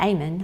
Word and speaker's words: Amen: Amen, but Amen, I think is how you pronounce it. Sure. But it's spelled like Amen.